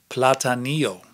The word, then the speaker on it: Platanillo: Platanillo, I pronounced it platanillo.